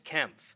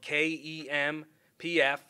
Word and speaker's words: Kempf: Our second officer involved is Officer Alex Kempf, spelled K-E-M-P-F, and it's pronounced Kemp, Kempf.